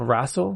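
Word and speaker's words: RASL: else has he done it's called razzle and it's it's spelled like uppercase r-a-s-l and it was a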